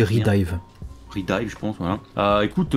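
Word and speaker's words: Re:Dive: On passe du coup à une figurine de Ilia, un 7ème, Princess Connect, Redive, je sais jamais prononcer. Oh, c'est Redive.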